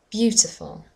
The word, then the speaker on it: beautiful: We had the word beautiful, beautiful. The stress is on the first syllable.